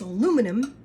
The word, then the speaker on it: aluminum: Therefore, if I say it's aluminum, that's how you pronounce it."